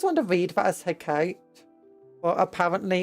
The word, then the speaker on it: Hecate: Hecate! I always want to read that as Hecate, but apparently it's pronounced Hecate.